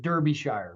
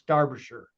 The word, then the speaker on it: Derbyshire: In my first video, I said Derbyshire, which every American does, but it's Derbyshire.